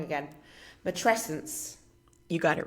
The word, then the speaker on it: matrescence: Matresence.